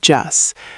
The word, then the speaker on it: just: The T sound at the end often becomes very light when speaking fast. Right, it sounds like just. But as an A1 learner, it's okay to pronounce that T clearly. No problem.